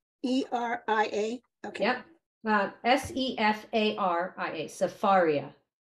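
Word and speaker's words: Sefaria: okay yeah uh s-e-f-a-r-i-a safaria not cepheria Safari s-e-f-a-r-i-a got it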